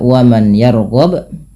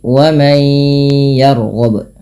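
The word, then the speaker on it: ومن يرغب: maka dinamakan idgham bhunah maka Bukan dibaca waman yarghab tapi Wam yarghab sembari ditahan bunyi suara ynya dua harakat W yaruillati sama ketika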